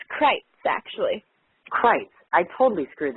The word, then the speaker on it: Crites: Is it Kreitz or Kreitz, or how do we pronounce that? It's Kreitz, actually.